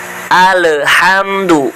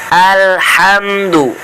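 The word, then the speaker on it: الحمد: Alhamdu. Ini tidak boleh dibaca ketika di alif lamnya. Cara baca yang benar supaya tidak mantul adalah ditahan terlebih dahulu lidahnya. Jangan langsung dilepas. Bismillahirrahmanirrahim. Alhamdu.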